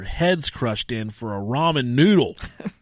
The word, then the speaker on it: ramen: These fucking people are killing over ramen noodles. Ramen noodles, like we call them in Ohio. Yeah. I think it's pronounced ramen, but in Ohio it's ramen. I say ramen.